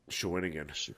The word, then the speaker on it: Shawinigan: Shawinigan.